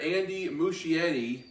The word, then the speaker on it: Andy Muschietti: ezra miller in the upcoming flash movie director andy muschietti if i pronounce that right posted his video call with